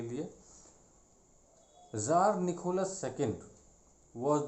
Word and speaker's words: tsar: वहाँ पे रशिया में किंग को ज़ार कहते हैं, TSAR इज़ द स्पेलिंग।